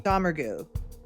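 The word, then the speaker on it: Domergue: Dammer.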